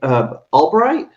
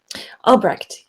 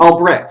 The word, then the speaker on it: Albrecht: Please correct me if I'm pronouncing it wrong. Beverly Albright. Albrecht. Mm-hmm. Albrecht.